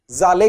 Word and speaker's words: Szalay: अब इनमें एस जेड ए एल ए वाई है तो एस को साइलेंट भी मान सकते हैं या आधा एस भी लोग हिंदी में प्रोनंसिएशन कर रहे हैं। वो कुछ भी हो सकता है। डेविड जाले कह सकते हैं।